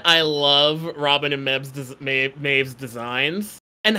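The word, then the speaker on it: Mebh: little girl wolf walker maeve um they say maeve it is spelled really weird it's like m-a-b-h or something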